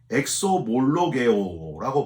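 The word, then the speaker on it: ἐξομολογέω: 회개 말고 자복은 헬라어로 엑소몰로게오라고 발음을 하는데요.이 엑소몰로게오라고 하는 말은 고백하는 걸 뜻합니다.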